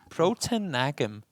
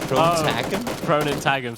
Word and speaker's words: Proton Tagum: Proton Nagam. Didn't we agree that it was Proton Tagum, sorry.